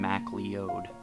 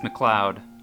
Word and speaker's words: McLeod: The woman pronounced my last name MacLeod. It's McLeod, I said.